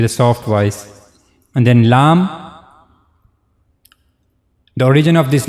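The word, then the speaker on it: لام: The last part of the the very last part of the tongue will go connect to the gum of two top front teeth. And this is how you pronounce the letter lamb.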